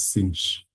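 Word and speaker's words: sinh: And then uh from there uh we can um so cinch this one here you pronounce it as cinch like that.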